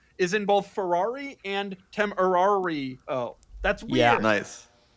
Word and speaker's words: Temerario: And number two, it's pronounced Temerario, right, Filippo? Yeah, Temerario.